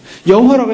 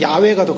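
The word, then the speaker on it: 야훼: 자기 자신을 여호와라고 얘기합니다 여호와라고 했데 그것을 보통 야라는 표현을 쓰기도 합니다 원래 원래 원어적 어 발음이 야외가도 가깝습니다 뭐 우리는 여호와로 번역을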